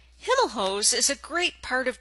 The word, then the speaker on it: Himelhoch: We pronounce our family name as Himelhoch. However, everyone referred to the store as Himelhoch over the years.